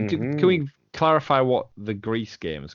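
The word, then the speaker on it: Gris: it's like the French the French pronunciation for the word gray gree well they're wrong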